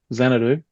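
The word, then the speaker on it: Xanadu: Xanadoo.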